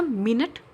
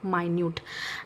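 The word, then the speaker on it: minute: जैसा मिनट, माइन्यूट, जैसा अभी मैं यहाँ पे लिख देती हूँ मिनट, माइन्यूट, ये आपको दोनों सिमिलर दिख रहा है राइटिंग में, बट प्रोनाउंसिएशन डिफरेंट और उसका मीनिंग भी डिफरेंट है।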